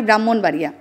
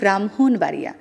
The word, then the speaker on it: ব্রাহ্মণবাড়িয়া: অনেকে বলে আমার বাড়ি ব্রাহ্মণবাড়িয়া, এরকমও বলে অনেকে, আসলে বলতে হবে ব্রাহ্মণবাড়িয়া। যখনই হ আর ম যুক্ত থাকবে MHO উচ্চারণ হবে।